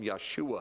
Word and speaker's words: Yeshua: Jesus Jesus call him Yeshua because that's how you pronounce his name in Hebrew and all of these